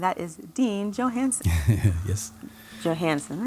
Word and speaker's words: Johanesen: Johanesen, right?